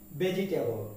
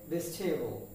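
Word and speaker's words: vegetable: এ ভি এল ই আমরা এটাকে উচ্চারণ করে থাকি ভেজিটেবল কি উচ্চারণ করি ভেজিটেবল কিন্তু এর উচ্চারণ হবে ভেস্টেবল কি হবে বেস্টেবল আবার খেয়াল করি কি হবে বেস্টেবল তার মানে এর উচ্চারণ ভেজিটেবল না এর উচ্চারণ বেস্টেবল এর উচ্চারণ কি বেস্টেবল ওকে পরবর্তী যে শব্দ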